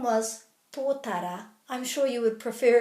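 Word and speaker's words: tōtara: vowels right is to put a little break after every vowel if you do that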